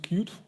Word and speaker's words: Qt: for that uh and I used cute or qt in different pronunciation so I started with